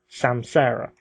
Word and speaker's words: Samsara: Well, welcome to another episode of Red Dwarf 11 TV Podcast Review, Episode 2, SAMSARA. And that's how you pronounce it.